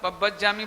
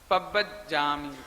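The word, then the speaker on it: पब्बज्जामि: बहुत लोग पब्बजामि बोलते हैं, पब्बजामि बोल देते हैं, पब्बजामि बोल देते हैं। ये गलत है। ना तो पब्बजामि है ना पब्बजामि है, ये गलत है। तो मैं सही बोलता हूं, आप ध्यान से सुनेंगे। पब्बजामि, पब्बजामि, पब्बजामि, ऐसे बोलना है आपको। पब्बजामि, आधा ब पूरा ब, आधा जा पूरा जा, पब्बजामि।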